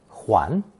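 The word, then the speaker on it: 睘: However, when it loses that red-colored cross at the top, qiong becomes an important phonetic component, pronounced second tone huan, to represent the meaning of turning round full circle.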